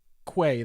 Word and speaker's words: Quay: do we pronounce that it is quay then right not key because pronouncing it correctly yeah is very confusing okay that's good to know so it's been it's been pronounced quays since coreos released it back in 2017.